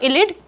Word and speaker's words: ylide: जब मैं बोल रही हूँ इलिड, तो स्पेलिंग क्या है, YLIDE, ये है।